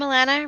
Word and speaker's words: Alana: Hi, I'm Alana, rhymes with an N if you have an American accent. If you don't, it does not.